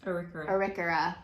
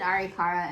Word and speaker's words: Arikara: how it actually is pronounced Mandan hidatsa and arikura I pronounced it arikara in my mind which is completely false so